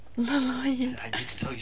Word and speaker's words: Lloyd: It's a weird name because of the way it's spelled. Like, what the hell? Why is it spelled with two L's? That just doesn't correlate to me. Lloyd. Like, everything else in the word is, like, completely fine, but there's two L's at the beginning. Why is it not pronounced Yoid, you know?